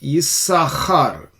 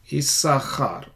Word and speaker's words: Issachar: This is pronounced as Issachar. Issachar.